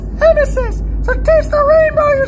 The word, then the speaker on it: emesis: what I don't know that word you know Amis it's right here Amis I I've never heard